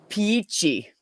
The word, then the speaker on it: Peachy: But her name is pronounced Peachy. So it sounds like peachy.